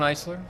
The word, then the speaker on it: Eiser: tell them who you are in case I mispronounce anything uh you did good it was it's icer so yeah it's close enough East silence so